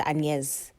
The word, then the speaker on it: Agnès: Yeah, she's called Which is spelled Agnes, which makes me think, wow, Agnes sounds so ugly compared to Agnès.